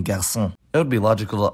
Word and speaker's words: garçon: cédille, or la cédille, is attached under a c to indicate that it's pronounced s despite not being before e, e, or y, like in garçon.